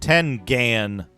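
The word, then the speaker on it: Tengen: System foreign syndrome ten can is pronounced 10 gan Warriors Quest and fantasy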